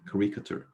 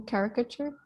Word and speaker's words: caricature: so here's a character i feel like i'm not pronouncing this words correctly quericator is that even a word character it is right do you mean caricature that's what i meant yeah okay i don't know how to pronounce it as you did caricature is that how you say okay um so every